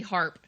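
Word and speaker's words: Harpe: was a kid okay is harp is spelled h a r p it has a silent E on the end big and little harp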